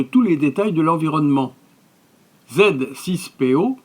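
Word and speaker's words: Z-6PO: les détails de l'environnement z6po dans sa prononciation française est un robot anthropomorphe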